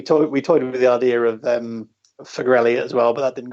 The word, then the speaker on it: Farrell-Elliott: It's Farrell-Elliott. It's the we combined the surnames when we got married, so we just double barreled it together. We toyed with the idea of Farrell-Elliott as well, but that didn't go over well.